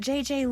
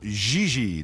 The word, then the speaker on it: Gigi: En français, you pronounce G like J and J like G. She may very well be J.J. in America, but in France, she is Gigi.